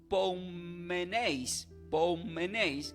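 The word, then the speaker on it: ποῦ μένεις: También se puede pronunciar y escribir como poumeneis, con acento en la U y en la E, que significa habitas, vives.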